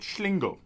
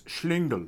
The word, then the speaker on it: Schlingel: apparently excuse the pronunciation there's a german word called schlingo and it basically means rascal now i think the behavior of early hounis the iron president again what is it again i think it's schlingel okay right all right the